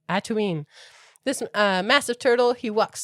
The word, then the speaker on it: Atuin: And they are standing on the shell of a giant turtle that I pronounce Atuin. That's his name, Atuin.